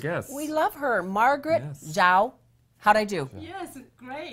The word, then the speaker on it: Zhao: It's spelled Z-H-A-O, which is Chinese, and this is how I wrote it phonetically, J-Z-O-W, and it came out right. That's she said phonetics. Earlier, before we started, she said, what did you say, combine the Z and the J.